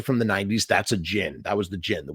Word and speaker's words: Djinn: the Jin and it's it looks like it's spelled D Jin but it's that's actually the D is kind of Silent kind of like Jango like gin that's the how you do it and a Jin is